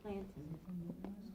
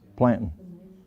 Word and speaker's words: plantain: Now, it's not spelled like mountain, it's plantain. Plantain.